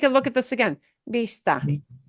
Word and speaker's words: Vista: Vista. Vista. Vista. It'll sound like a B. They make the same sound.